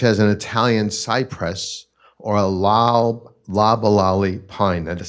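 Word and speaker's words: Loblolly: it up such as an Italian Cypress or La lalali Pine that is spelled l o b o l l y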